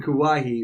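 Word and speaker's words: Kauai: called wahoo which is just 50 miles from kawaii i wrote down the pronunciation she's 15 hours from kawahi which is where lilo and stitch was set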